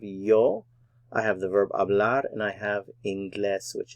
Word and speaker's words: hablar: ingles yo hablo ingles the h is silent in hablar by the way yo hablo ingles i